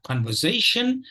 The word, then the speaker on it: conversation: for today is uh conversation and there are two stress syllables here Zay the third syllable is a text the primary stress and we have uh the secondary stress on the first syllable con okay so it is